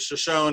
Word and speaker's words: Shoshone: where they got the name shoshone from they pronounce it shoshone and this is um they call it the